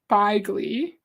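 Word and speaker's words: bejgli: Dainty's fine, but it's pronounced Baigli. It's a Hungarian word. Okay. Baigli.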